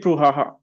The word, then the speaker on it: brouhaha: Uh, Anushka, there was a big brouhaha. There was a big brouhaha. Very good. Prabjot, repeat after me. There was a big brouhaha. There was a big brouhaha. This word, again, has three syllables.